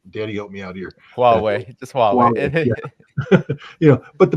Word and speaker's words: Huawei: Hawaii, I can't pronounce that word. Daddy, help me out here. Huawei, just Huawei.